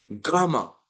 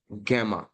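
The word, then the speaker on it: gamma: है उसके बाद ओके गामा इसको ही लोग इसको गैमा पढ़ते हैं गैमा नहीं गामा गामा और गामा और इसको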